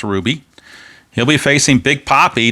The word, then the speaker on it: Rubby: top of the second rubbie uh ruby de la rosa rather it's spelled like rubby but it's pronounced ruby he'll be facing big